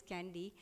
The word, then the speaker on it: KNDY: One is the thermoregulatory center, one is the neuronal center which is called the candy hormones that we call, that is the KNDY, pronounced as candy, that is the kisspeptin, the neurokinin B, and the dynorphin.